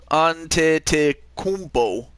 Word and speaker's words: Antetokounmpo: Antetokounmpo. That's how you pronounced.